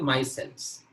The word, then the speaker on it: micelles: ये प्रोनाउंसिएशन इसका रहता है माइसेल्स।